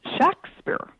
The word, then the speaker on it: Shakespeare: documents of the period the name was pronounced Shakespeare um with a short a.